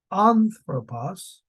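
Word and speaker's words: ἄνθρωπος: in the Bible and that has an accent on the first syllable so it's anthropos this little curly thing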